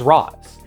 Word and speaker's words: Ra's: always meant to be pronounced as Razz. Take a look at the accent marks above the A and U in his first appearance. Those are called macrons, and they indicate that a letter should have a long pronunciation, and you've probably seen them around.